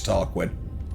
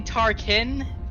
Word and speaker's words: Tarkin: dreading hello oh god it's tarquin i don't know oh no it's actually tarkin can you say it